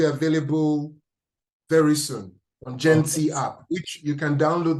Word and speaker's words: Genti: Who's doing it's called Genti.